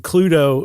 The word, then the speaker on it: Cluedo: Uh they named it Cludo like you said, spelled like Clue with DO at the end.